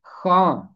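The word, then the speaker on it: خواں: उर्दू खां, اردو پڑھنے والا۔ اس کا تلفظ ہے خاں، خے کے بعد واؤ خاموش ہے اور اسے کہتے ہیں واؤ مادولا۔ کلاس نمبر 8 کی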